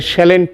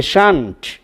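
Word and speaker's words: shan't: যদি আমরা শ্যাল পাই, শ্যালের সঙ্গে নট যোগ করলে শ্যালেন্ট নয়, হবে শান্ট।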